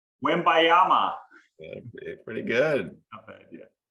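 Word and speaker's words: Wembanyama: little bit more about him you care to pronounce the last name win bayama pretty good yeah it's like we all can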